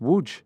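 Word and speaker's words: Łódź: l o DZ yeah that's pronounced wo yes wow the L is a W uh yes wow are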